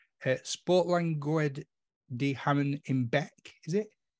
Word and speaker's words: Beek: Sportlandgoed de Haamen in Beek, is it? Beek. Okay. Well, do you know what? Of all the things I thought I was going to get wrong then, Beek was not the one.